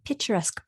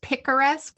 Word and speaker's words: picaresque: I had never known what a picturesque plot was. I think it's picaresque. I didn't know how to pronounce it either, apparently.